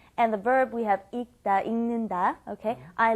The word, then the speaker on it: 읽다: 읽다 is the pronunciation for the word reading, right? 읽다, because when it is followed by a consonant, then you must not pronounce it fully. You don't bring up the L sound, so it becomes 읽다